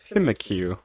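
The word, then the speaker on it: Pyukumuku: The actual Pokemon is Pimikyu. Pimikyu.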